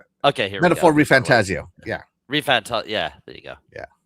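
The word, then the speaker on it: ReFantazio: Refantasio.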